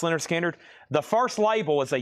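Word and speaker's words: Lynyrd Skynyrd: We have Leonard Skinner, pronounced Leonard Skinner.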